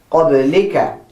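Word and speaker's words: قبلك: So I start with qab, the 2 dots, and the fatha. And then I go and write the ba, the sukoon, the la, with the kasra it becomes li, qabli, and I write the ka, qablika.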